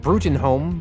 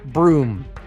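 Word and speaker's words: Bruttenholm: it would be pronounced Bruen home but it is pronounced broom and there is also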